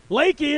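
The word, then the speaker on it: Leakey: of san antonio frio river goes through there leki is correct and they take a 5-4 lead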